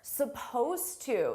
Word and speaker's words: supposed: Now notice here, supposed to. Suppose is spelled with an ed d. It's an ed d verb, but you don't hear it at all.